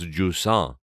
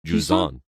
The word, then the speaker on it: Jusant: that he's reviewing for us called, I've been pronouncing it wrong, but it's Jusant. Yeah. Jusant.